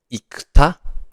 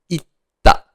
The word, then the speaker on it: 行った: Instead of saying 行くた, just like 食べた or 寝た, 行くた, instead of saying that because it's hard to pronounce, we just change it a little bit and we say 行った, 行った, not 行くた, 行った, right?